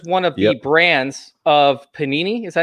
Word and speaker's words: Panini: Spectra is one of the brands of Panini. Is that how you say it, right? Panini?